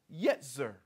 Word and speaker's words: yetzer: The word is yetzer. Yetzer. That's Y-E-T-Z-E-R. And it can also be spelled, I said, with an S, which is also yetzer, pronounced the same way.